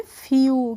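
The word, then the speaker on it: few: आ गया है तो जब भी किसी वर्ड में ई डब्लू आएगा तो उसका प्रोनाउंस एशन हम करेंगे यू करके करेंगे ठीक है तो एफ डब्लू है तो हम इसको कैसे पढ़ेंगे इसको हम पढ़ेंगे फ्यू कैसे पढ़ेंगे फ्यू पढ़ेंगे और फ्यू मींस होता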